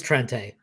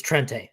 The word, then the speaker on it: Trente: It is Trente. I know, but I've seen him say Trent before. It's Trente.